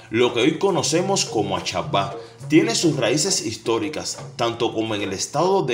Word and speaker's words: Ashaba: debemos saber es que a salva se pronuncia a chapa es un lugar geográfico